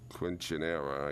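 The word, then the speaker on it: quinceañera: of a family event that he called hey quinceanera i guess is that correct is that how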